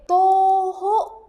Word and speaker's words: 徒: Contoh kalimat dan contoh kosakatanya ada ongra dibacanya tadi kanjing itu dibacanya to ya.